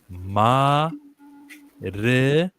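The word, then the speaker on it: Maridueña: He says that the N equals the Y letter.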